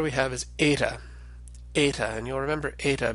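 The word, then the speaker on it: ἦτα: so we can represent the original sound of eight a sort of like the e an error error which we hold a little bit longer than a normal short e but the way we pronounce it nowadays and our reconstructed or what's called a Raz nian pronunciation tends to be closer to a long a sound so like the a and ace and that's how we'll pronounce ada in this class as a now to draw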